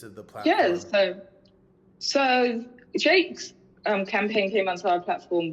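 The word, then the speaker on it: JVKE: It's Jake.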